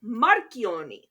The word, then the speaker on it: Marchiony: And it should be pronounced Marchiony, because it's spelled with a CH, and that produces a K sound in Italian.